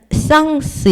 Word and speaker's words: sens: 그리고 이게 이제 아라는 전치사가 있고 일단 쌍스 요거는 그 s까지 발음을 해줘요.